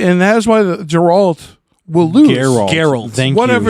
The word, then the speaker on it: Geralt: Like we're used to glorious defeat, and that is why the Geralt will lose. Geralt. Thank Whatever you. the fuck his name is. Hard G. Put some respect on his name.